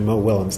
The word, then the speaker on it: Willems: It's actually Mo Willems, not Williams.